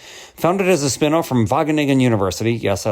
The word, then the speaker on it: Wageningen: Founded as a spinoff from Wageningen University, yes, I like to say that to prove that I can pronounce it, Wageningen University, ChainCraft is pioneering open culture fermentation processes